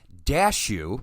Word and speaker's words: Dashew: But starring Jeremy Ninaber, Ethan Mitchell, Kristen Caster, Matthew Ninaber, Matt Dashew, said like cashew.